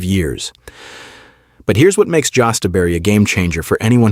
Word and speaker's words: jostaberry: Number 5, jostaberry, pronounced jostaberry, and this is the plant that scientists literally engineered to be the perfect berry bush.